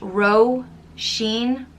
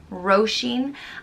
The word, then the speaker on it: Róisín: which means little rose it's pronounced ro sheen roshin and it's spelt with